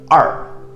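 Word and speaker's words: 二: Number 2 has 2 pronunciations. One is R.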